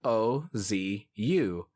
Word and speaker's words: OOO: O's is officially spelled with 3 O's, but in katakana it's spelled O-Z-U. Ozu. Ozu. That's really meant to show how it's pronounced in Japanese, but even in the show, it's spelled with 3 O's.